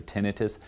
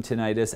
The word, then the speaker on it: tinnitus: of sound would be considered tinnitus or tinnitus, depending on how you want to pronounce it.